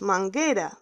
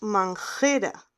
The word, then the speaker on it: manguera: Porque si no tenemos la letra U en el centro, no decimos manguera, decimos manjera, sin la U. Sin la U decimos manjera, pero esta palabra es manguera, manguera.